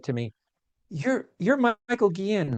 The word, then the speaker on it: Guillén: So it's Gui-en or you can say Guillain.